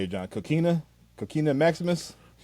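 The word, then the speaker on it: Kokina: Coquina Maximus? Coquina, Yes.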